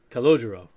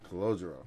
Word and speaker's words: Calogero: It sounded a little more Italian the way he said it. That's why He I say said. congelado, which means frozen in Spanish. I only, honestly, I only heard it the way the Italians do said it, but I know they don't enunciate every syllable.